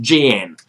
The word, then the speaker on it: Xi'an: I think it's pronounced Jian, which is the ancient capital of China where the Terracotta Warriors are.